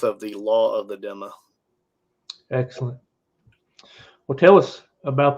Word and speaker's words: Dhimma: and like I said, in the West we call it Dhimma and Dhimmis, but the Arabic letter makes it pretty clear. The correct pronunciation is Dhimma. It's like a DZ sound together.